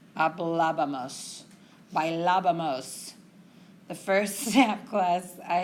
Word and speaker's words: hablábamos: Which is why when we get to nosotros, we have to have that accent mark. It would never come out correctly. It's too many syllables. Hablábamos. Okay? So you have that emphasis on that first A. That's where we want our accent mark.